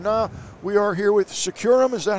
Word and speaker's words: Securam: Living Color and now we are here with securam is that how we're pronouncing it securam yeah secure M and we're here with Steve Davidson the director